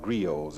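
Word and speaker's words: griots: by the old men who are called Grios. It's spelled G R I O Ts.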